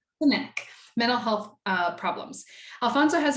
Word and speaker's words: Cenac: Cenac? Cenac.